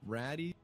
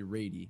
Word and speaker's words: Radee: them are not wrong Rati is the way it should be pronounced because of the way it's it's spelled out but people all call me ready so that's ready or Radi are totally fine it goes both ways okay ready ready it's